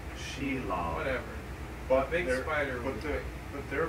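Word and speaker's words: Shelob: they are big as Shalo no not as big as Sheil it's pronounced Sheil whatever spider but but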